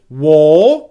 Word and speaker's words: were: what you get don't make an o sound war and don't move your mouth too much as you're making the er sound and get something like war war war for clear british pronunciation